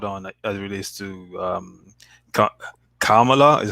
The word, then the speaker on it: Kamala: as it relates to Kamala. Is how you pronounce it? Is it Kamala? I don't pronounce it. Kamala. It's not Kamala. It's Kamala. It's yeah, Kamala, not Kamala.